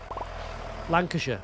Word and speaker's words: Lancashire: But it's sh Lancasher not Lancashire.